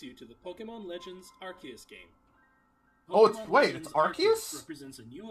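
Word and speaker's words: Arceus: that so it's archus I always thought it was arus allow me to introduce you to the Pokemon Legends archus game po all right well I've never been good at pronouncing anyway but apparently it's been it's archus all right Legends archus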